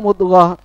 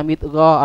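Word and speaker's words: مضغة: Kok tahu mudghah apa namanya? Tidak dibaca midghah atau madghah.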